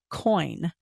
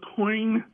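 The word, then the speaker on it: Coyne: including the pilot Lawrence coin c c y n e but it's pronounced coin okay that claimed to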